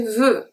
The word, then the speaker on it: veux: So, veux, I don't say veux. I say veux, so the X is silent.